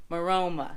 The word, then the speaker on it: Maroma: What is it pronounced? Maroma.